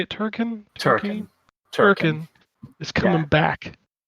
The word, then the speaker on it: Turrican: Turrican. Turrican is coming Yeah. back. And they 30th have- anniversary edition. Yeah, they have 2 collections that were put out physically. I was like, oh, a collection of Turrican.